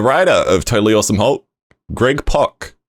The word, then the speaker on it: Pak: of totally awesome greg pock spelt pak but it rhymes with rock i learned so it's